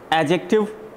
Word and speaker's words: adjective: हाँ, ये जो D है ना, इसको pronounce नहीं करना होता है, silent में रखते हैं. Adjective. D silent है, तो A को पढ़ेंगे directly, फिर J को पढ़ेंगे.